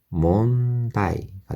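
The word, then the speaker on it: 問題: 코로나죠 nonde 다이네 여기서 응은 니은 발음이 되겠습니다 그래서 몬다이가 되겠습니다 몬다이 억양은 몬다이 이렇게 되죠 몬다이대 세후 세후와 이마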